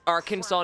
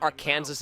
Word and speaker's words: Arkansas: But the pronunciation of Arkansas, I think the fact that it is Arkansas, not our Kansas is still weird.